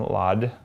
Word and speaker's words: laude: And she studied nutrition and graduated magna cum laude.